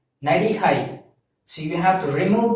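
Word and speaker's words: நடிகை: And by the same way, if you're an actress, you're a female actress, so you have to pronounce like Nadihai.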